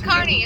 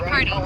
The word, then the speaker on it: Kearney: It's Kearney. It's not Kearney. It's spelled like Kearney, but it's actually Kearney.